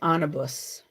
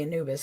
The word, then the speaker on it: Anubis: together all right and the second is anibus or Anubis I I think most people say Anubis I always pronounce things differently so Anubis is one